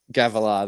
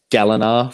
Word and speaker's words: Gavilar: always Gavilar. There you go. I always pronounce his name wrong in my head. I always call him Yeah. Galinar for some reason, but Yeah.